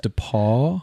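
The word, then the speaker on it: DePaul: beat that and wob Bash that's right it's pronounced dep Paul oh my gosh uh the the what is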